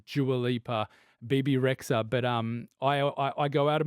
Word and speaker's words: Rexha: Bebe Rexha, yeah, Rexha.